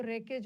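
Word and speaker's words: wreckage: damage के बाद जो रेकेज बचा था रेकेज का मतलब होता है डब्ल्यू साइलेंट है मलबा मलबा मतलब डिस्ट्रक्शन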